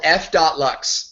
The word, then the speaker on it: f.lux: So what I have on my screen is a program called F.Lux, right? It's called Flux, but it's spelled F.Lux.